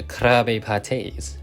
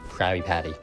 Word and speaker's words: Krabbye Pattye: So yeah, Krabbye Patties, not Krabby Patty.